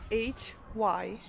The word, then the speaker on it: hygge: There is a word the Danish use, spelled H-Y-G-G-E, pronounced hygge.